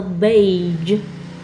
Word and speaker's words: beige: color B BGE be the color the color beige the word m massage and the word prage